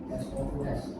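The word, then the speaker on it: sous: Ses bacanya bukan saos.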